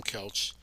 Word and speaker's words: Koelsch: It's a German name and the O is silent in English.